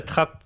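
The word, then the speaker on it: Trappes: comment non j'habite à Trapp c'est une demi de train pareil ta trappe ça s'écrit TR 2p 2p ah oui donc traape comme une vraie comme le mot français TR on peut dire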